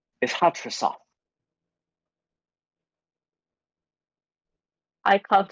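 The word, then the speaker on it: Hattrassath: Yes, that would still be preferable, to be honest, but my true full name is Hatrasoth. I can't spell that.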